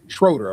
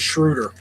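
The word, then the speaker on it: Schröder: Schroeder or Schroider? Schroeder, I think. Right. His name is Shruder. Shruder. Even though it's spelled like Schroeder. Shruder. He's German.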